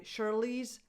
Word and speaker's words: Charlize: The way she pronounces her name in Afrikaans, I can't say it, but she goes by Charlize Theron. Charlize, the first sound is a sh, not a ch.